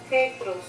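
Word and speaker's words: Πέτρος: Jesús conoció su nombre, en arameo le llamó Cefas, es decir, Pedro, y en griego este nombre se pronuncia Petros, es decir, Pedro.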